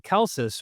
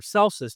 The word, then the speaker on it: Celsus: latest video I did on kelsus or celsus depending on how you want to pronounce the name um that he was